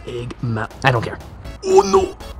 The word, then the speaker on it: Eggman: And I was going to defeat Eggface. Well, you see, it's actually pronounced Eggman.